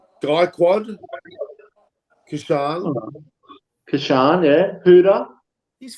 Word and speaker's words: Gaikwad: And their T20 squads have got Rahul's the captain, Gakwad, Kishan, Huda. Okay, get the pronunciations right. Gaikwad, Kishan.